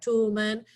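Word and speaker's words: Toulmin: The Toolman method, it's pronounced like Toolman, is a good method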